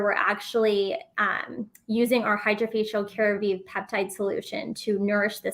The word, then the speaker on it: Jacobi: I do need to take advantage of the Jacobi treatment, right? That's how you pronounce it, right?